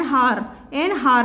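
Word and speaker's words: hour: ठीक वैसे ही एन हार में ए का साउंड आ रहा है, एच जो है वो साइलेंट है, इसलिए हमें एन का इस्तेमाल किया है।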